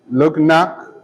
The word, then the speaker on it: Luggnag: Part 3 is entitled A Voyage to Laputa, Balnibarbi, Lugnak, Club-Dub-Drip, and Japan. Balnibarbi is spelled Balnibarbi.